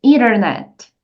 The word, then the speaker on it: internet: é a letra E então essa letra T vai ficar com som de R por isso você diz internet e no final temos a letra T novamente você vai deixar ela bem Sutil internet Então agora é